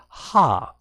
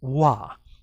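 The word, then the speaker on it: は: to explain to you when do we pronounce it as ha and when is it being pronounced as wah so for now we'll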